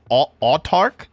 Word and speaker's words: Autarch: They are not a royal knight of his majesty, but they are in fact I'm going to butcher the pronunciation on this. Is it otarch?